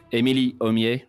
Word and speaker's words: Émilie Aumier: Are you proud of the way I've pronounced your last name? Yes, it was awesome. Yeah, I made it the Frenchiest I could.